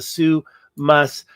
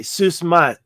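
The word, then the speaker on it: Souss-Massa: island Atlantis and the Sous Mas. How do they say it? Sous. They pronounce the S here, but they don't pronounce it very strongly here. I heard him, they say Sous Mas.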